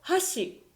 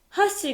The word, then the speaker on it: 箸: 例えば、橋と箸。